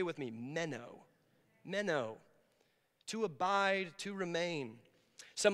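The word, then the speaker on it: μένω: to abide it just it's pronounced as just the way it's written it's the word meno say with me meno menow to abide to remain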